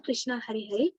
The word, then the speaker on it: Krishna: mantra hari krishna krishna krishna rhymes with drama are sanskrit words hari